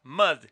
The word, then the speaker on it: Mud: se llama Mad que es un juego de palabra diría barro pero la pronunciación da mud como el loco que era protagonizado por